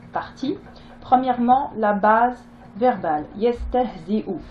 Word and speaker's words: يستهزئ: Yestehzi'u. Donc ici, hein, le support de la hamza est là et ne se prononce pas. Ce qui se prononce, c'est la hamza, donc la dhamma, c'est-à-dire le son ou.